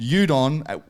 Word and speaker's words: Udokn: to call it, called Udokn, which the K is silent, I've been told.